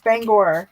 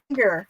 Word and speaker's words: Bangor: People come here and they say Bangor, Maine. And Isn't it Bangor? To us. It's Bangor, yes. But a I lot only of people know that say because I've listened to Stephen King enough times. Yes. And people will call it Bangor, Maine. And it's like, no, it's not Banger.